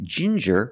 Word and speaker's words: ginger: you have different pronunciations with ginger we use the J sound like juice and jump JJ and the regular n Jin J Ginger people like to drink